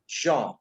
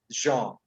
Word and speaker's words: genre: But the correct pronunciation, because it is a French word, the word. Now listen to me carefully. It goes like genre.